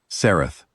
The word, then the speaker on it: Sareth: Sareth, I say. I make sure I say it the way she said it, with the weight on the second syllable.